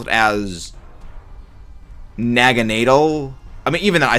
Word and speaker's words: Naganadel: I mean, I always pronounce it as Naganadel. I mean, even though I say Naganadel, Naganadel, flip-flop, because it's like Naga, and then I believe the German pronunciation of needle, which is, yeah, I believe, nadal.